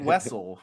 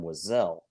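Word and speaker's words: Wesell: Wessel okay okay thank you you say it Wessel so that way you can say westl Mania baby WLAN WL Mania love that's fantastic so some people think it's pronounced Zam wazelle they are wrong they are wrong they there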